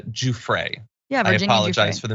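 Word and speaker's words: Giuffre: uh let's see I I am being told that it's uh JRA I apologize for the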